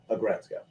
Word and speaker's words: Aggretsuko: It's the word is aggressive plus Retsko. Aggretsuko.